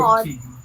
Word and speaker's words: cord: একবার Cord. বলে দিলাম যে ও উচ্চারণ হলেই আকার, সবসময় হয় না, আচ্ছা আচ্ছা, cord.